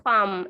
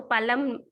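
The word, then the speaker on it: palm: So this is पाम, L silent होता है इसमें, ठीक है बच्चे? तो पालम, पालम इसका प्रोनाउंस नहीं करना है, इसको पाम बोलते हैं, एल इज साइलेंट।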